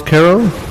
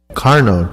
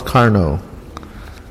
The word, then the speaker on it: Carno: cards and uh carroll are you here cardo carno carno okay i apologize my name is uh hard to pronounce car no but uh i'm used